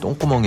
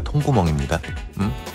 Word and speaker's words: 통구멍: 발음에 유의하셔야 돼요. 똥구멍이 아니라 통구멍입니다.